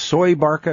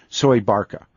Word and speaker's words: Soebarkah: yes when you first said that and it's pronounced soy Barca as I that's pronounced Barca yes survived that's how they say Indonesian say soy Barca and I've gotten some email this when I